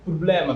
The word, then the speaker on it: problema: So that's why problema, you should say problema, because the stress is on ble.